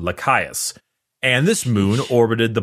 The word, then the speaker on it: Lycaeus: So anyway, his homeworld is just impossible to pronounce. Lycaeus. I'm gonna go Lycaeus.